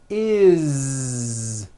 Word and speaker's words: is: add an S ending this time we always add the ending is with a voiced Z is it doesn't matter